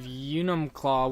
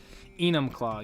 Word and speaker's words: Enumclaw: Were you able to pronounce the town of Unumclaw when you passed through on the way to Crystal?